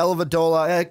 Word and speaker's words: Dellavedova: Matthew Dellavedova. Yeah, Dellavedova.